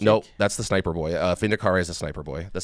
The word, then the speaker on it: Vindicare: The Vindicar assassin. Vindicare, I think it's actually pronounced.